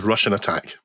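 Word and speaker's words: Rush'n Attack: The game was called Rush N Attack, as in rush and attack, and of course it's pronounced as Russian Attack.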